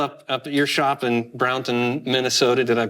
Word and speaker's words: Brownton: And so here I am now up at your shop in Brownton, Minnesota. Did I pronounce that right? Yep, you got it right. Brownton.